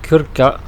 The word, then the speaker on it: Krka: nationaux ici en Croatie ça s'appelle le parc national kurca ça s'écrit Krka alors c'est environ une